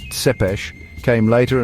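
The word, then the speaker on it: Țepeș: His other famous name, Tepees, pronounced sep later and was given to him by his enemies.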